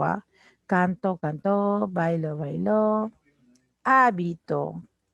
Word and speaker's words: hábito: Hábito. Habito y habitó, mira. Sí, en hábito el acento está en la antepenúltima sílaba esdrújula.